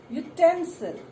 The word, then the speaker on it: utensil: or everything is called utensil. Utensil. Though the word is beginning with the letter U, but the pronunciation comes with Y. Y. So it is not a vowel sound, it is a consonant sound, and you put a.